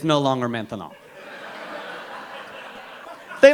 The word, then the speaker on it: maintenant: That's right, maintenant. Maintenant. 3 syllables, that's a long word for now. By the time you get finished saying maintenant, it's no longer maintenant.